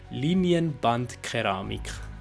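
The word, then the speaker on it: Linienbandkeramik: Also, let's say it again, since you're not German speaking, most of you. I will say it properly. Linienband Keramik.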